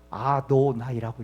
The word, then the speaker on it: 아도나이: 읽을 때는 어떻게 읽은 줄 아셔요?여 아도나이라고 읽었습니다. 아도나이. 그러니까 실제 이름은 야회라고 쓰고요. 어떻게 하나님의 이름을 경망스럽게 감히 인간이 그 이름을 부르느냐? 그래서 기록은 율법의 기록은 야회라고 돼 있는데 어떻게 읽었다고요? 아도나이라고 읽었어요.